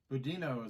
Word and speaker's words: budino: salted caramel and how do you say that budino is how I pronounce that b u d i n o